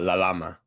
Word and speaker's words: Lalama: Your name is pronounced. Yep. And how do you say your last name? Uh, La Lama.